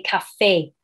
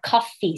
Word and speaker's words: coffee: Okay, so I'm making sure that my students, for example, they tend to say cafe and not coffee.